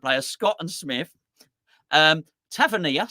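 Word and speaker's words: Tavernier: Scott and Smith um tavernia some say tavier only me um Frank s arra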